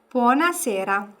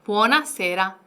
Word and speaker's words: buonasera: 요건 발음이 살짝 어려울 수 있는데 좀 천천히 한번 발음해 주시겠어요, 루치아 쌤? Buonasera. 네, 부어나세라. 네, 부어나세라 이렇게 발음해 주시면 됩니다.